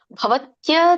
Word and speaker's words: ಭವತ್ಯ: ಫಲಂ ಅಂತ ಜಗಬೇಡಿ ಫಲಂ ಭವತ್ಯ ತ್ಯಾಗಿನಂ ಭವತ್ಯ ತ್ಯಾಗಿನ ಯ ಇದೆ ಯ ಕೇಳಿಸಬೇಕು ಹೆಚ್ಚು ಭವತ್ಯ ಭವತ್ಯ ತ್ಯಾಗಿನಂ ಬಿಡಿಸಿದಾಗ